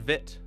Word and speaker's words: Vite: look up what the this spell oh it's pronounced vit or vit V it's pronounced vit and I've